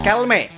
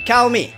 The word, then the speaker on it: Kelme: Jadi aparel ini dibacanya bukan Calme. Ingat ya bang, bukan Calme, tapi Calmi.